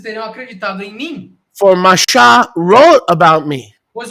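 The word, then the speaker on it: משה: Shin Hey, there's no Moshe there, there's Masha. Mem Shin Hey is without vowels, is pronounced Masha.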